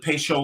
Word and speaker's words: Patio: Peychaud is spelled patio, but the old timers called it Peychaud like ratio.